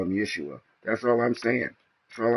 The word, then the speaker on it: Yeshua: when you can when you can you know pronounce his name Yeshua ye Shu you know ye s hua you